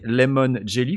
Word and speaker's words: Lemon Jelly: c'est lemon jelly alors faut bien le prononcer lemon jelly comme gelet de citron parce que quand on le dit trop vite on a l'impression que c'est éangéli qu'on essaie de vendre mais pas du tout